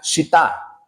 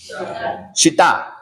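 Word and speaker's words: שיטה: Esa palabra acacia, vamos a definir aiacia, hermano, es una palabra hebrea, ahí se la puse, que se pronuncia shita. ¿Cómo? Shitá.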